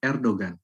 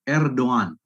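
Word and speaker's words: Erdoğan: up tail like erdogan it's not correct to read erdogan but erdogan so we call it as as yumusaki or the soft g it is like in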